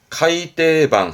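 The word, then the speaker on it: 改訂版: 묶음은 어떨까 싶은데요 하나 더 있어요 요것도 정입니다 발음은 카이떼방 하는데요 이거는 정정한다는 뜻입니다 그러니까 책이 오류 발생으로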